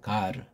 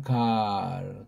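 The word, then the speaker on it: γάρ: 가르 가르 서양애들은 또 그런에 의자라는 보험이 없다 보니까 갈 갈 갈 근데 이걸 또 우린 또 잘못 기동리냐니까 갈로 이렇게 하는 사람이 있어.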